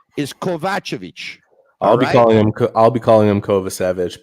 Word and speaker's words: Kovacevic: By the way, Jack says, Tony, please learn how to pronounce Kovacevic's name.